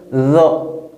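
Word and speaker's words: ظ: Et nous avons, ici c'est la lettre Zo. Toujours avec le son O. Zo. Zo. La langue sort un peu. Zo. Entre les dents.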